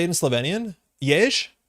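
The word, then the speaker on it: Jež: Jej, J-E-Z, with a little hat on it. Jej. It's just like Jez.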